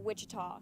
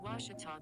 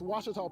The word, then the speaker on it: Ouachita: Ouachita Sports digital Network I've heard people say oh a cheetah oh Wichita oh a cheetah is it pronounced oh Akita back in Texas everybody pronounces it Wichita how would you pronounce it it's Ouachita Baptist University get it right it's Ouachita people it's Ouachita wash your